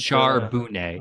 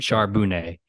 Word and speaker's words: Charbonnet: I know that's not how you pronounce his last name, but He is from a California school, so it's I like Charbonnet. like that. Charbonnet.